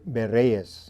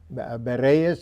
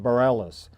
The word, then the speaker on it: Berrellez: Our featured guest today is Bereas. Did I pronounce it right? Yes. Berees. And my English speaking friends would would uh call it Bareilles.